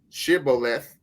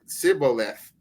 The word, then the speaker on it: shibboleth: say they answered him say now shibboleth and how he said sibo left for he could not frame to pronounce it right then they took him